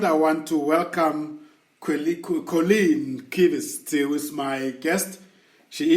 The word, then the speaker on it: Qvist: Well, yeah, with it being, it's pronounced Qvist, but with it being spelled QVIST, people all seem to think, no, but it should be QU. But that's an English rule, not a Danish one.